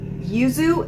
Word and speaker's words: yuzu: Yuzu?